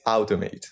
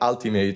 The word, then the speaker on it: Automhate: In my head it's automate which is like kind of sounds like ultimate sometimes people are like oh yeah ultimate. Yeah I know you. I'm like no I'm not al I'm not ultimate. Don't know what ultimate is.